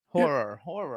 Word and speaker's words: horror: I mean, a whore fan? And I said, no, not whore. He pronounces horror as whore. Horror.